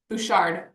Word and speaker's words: Bouchard: How do you say it? Brendan Bouchard. Bouchard. Our best friends are Busher, so I kind of sometimes get a little messed up.